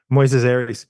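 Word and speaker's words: Moisés Arias: plays Lucy's brother uh Moyes Aries is that how you pronounce it yeah Moises Aries he um he has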